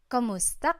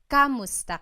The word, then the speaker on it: kumusta: you in Tagalog, it's Kumusta ka? Kumusta ka? So it's spelled K-U-M, kumusta ka. But sometimes you might hear some people say kamusta ka, like it's a K-A sound.